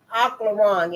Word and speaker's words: Aufklärung: Ooh, we Aufklärung in Germany, Aufklärung. Aufklärung, I think the F is silent.